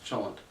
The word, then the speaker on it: cholent: The most common one is actually called cholent, and you'll hear about that in this case, CH is pronounced like in English, cholent.